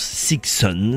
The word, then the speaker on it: Sixun: Le nom du groupe est composé de six, de 6 donc, et de 1 et se prononce Sixon.